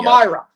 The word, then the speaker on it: Palmyra: Palmyra. Palmyra. Thank you for the pronunciation.